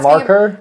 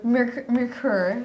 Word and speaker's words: Merkur: How do you say it, Marker? Merkur.